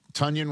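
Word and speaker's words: Tonyan: Jalen Warren, You know, they got Robert Tunyon rhymes with Funyon to go along with the wagon, Darnell Washington, and of course, Freiermuth.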